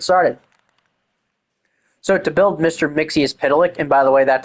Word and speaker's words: Mxyptlk: Mixie's Pitilik, and by the way, that's actually how you say it.